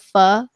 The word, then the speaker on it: pho: It's actually pronounced the same if you replace it with the word pho, because it's pronounced pho.